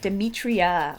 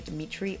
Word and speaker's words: Demetria: Thank you for pronouncing my name right. Demetria. Most everyone calls me Dimitri or Demetrius.